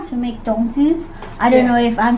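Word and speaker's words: 粽子: me how to make zongzhi. I don't know if I'm saying it correctly, but anyway. Baza. As long as you can Baza. Understand. Baza. Actually in Taiwan we say zongzhi, but sometimes we still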